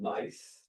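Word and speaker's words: gneiss: Um, this is a crystallin rock, but it's a metamorphic rock called mice. Not not NICP. It's spelled G- I SS.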